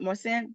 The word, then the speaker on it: Marcin: I have maren am I saying that right maren yes yes okay how do you say your